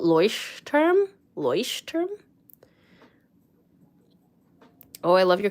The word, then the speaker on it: Leuchtturm: You'd pronounce the U in look, the oi in oyster. Maybe that helps. So like Leuchtturm. Oh, Leuchtturm?